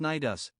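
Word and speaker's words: Cnidus: against the harbor of nidis pronounced naidus a port on the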